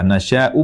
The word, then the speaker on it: نَشَؤُاْ: nasy seperti ini tulisannya cara membacanya Nasya huruf hamzah di akhirnya meskipun numpang di wau tetap dibaca Hamzah tetap dibaca Hamzah bersukun karena kita berhenti abaikan